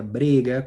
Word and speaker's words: brega: no hacen control tenía Esa palabra brega que no es verdad se pronuncia briga conchad comenzar a entrar